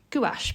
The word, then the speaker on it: gouache: a palette by Mia I believe it's pronounced it's gach paint and this is